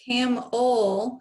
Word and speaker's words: camel: And your last bracket is EL, but camel sounds like a U kind of, so that's why it's a schwa.